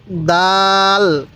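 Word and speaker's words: دال: কিভাবে পড়তে হবে হ্যাঁ খ এরপরে এই হরফটির উচ্চারণ কিভাবে পড়তে হবে হ্যাঁ দাল দাল এরপরে বলুন এই হরফটির উচ্চারণ কিভাবে পড়বেন হ্যাঁ রাল রা তাহলে এটা দাল এটা এরকম ভাবে শিখবো এবার আমি এই লাইনের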